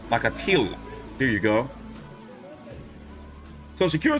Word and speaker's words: Nakathila: Lord knows I didn't know how to pronounce his name. Nakathila. Is it Nakathila? Nakathila.